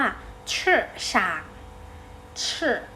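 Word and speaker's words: 市场: ตลาด นะ คะ ตลาด ภาษา จีน ออก เสียง ว่า ฉาก เชอะ ฉาก อธิ นี้ นัก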